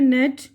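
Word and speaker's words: gnat: अब उसके बाद यहाँ पे नेट, जी साइलेंट है।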